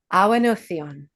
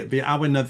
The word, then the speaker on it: Awen: from Wales of, and I'm going to attempt pronunciation of a word. So here we go. Awen. Did I do it? You Awen.